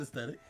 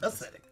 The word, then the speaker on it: ascetic: And I thought, I was like, man, I've been saying this word wrong the entire time. It was not aesthetic. That is the actual word. It was ascetic.